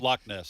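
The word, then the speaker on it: Loch Ness: way to say it lock Nest lock Nest monster lock lock means Lake yeah in Scotland they always have that kind of hard ending to words but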